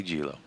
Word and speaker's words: Gillo: Simply Gillo.